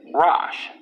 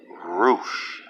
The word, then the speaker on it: Rosh: This isn't pronounced Rosh. You know what it's pronounced as? Roosh. Like playing roof.